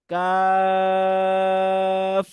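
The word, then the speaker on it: ك: Next অ্যালফাবেটটি দেখো, কাফ। কাফ একটু তিনালি সময় টান হবে, কাফ। কাফ লাস্টে এফ এর উচ্চারণ ফ, কাফ।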